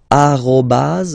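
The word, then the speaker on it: arobase: all right uh but officially it should be arobas okay so don't be surprised if someone is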